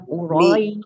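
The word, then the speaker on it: قريش: harakat asalkan konsisten dari awal hingga akhir bacaan dibacanya Qurais hati-hati dengan huruf Sin ya umahad huruf Sinin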